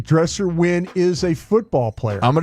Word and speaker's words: Dresser: Dresser Winn.